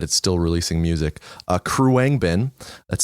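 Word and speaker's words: Khruangbin: favorite band that is still releasing music uh Kang bin that's spelled with an h k h r u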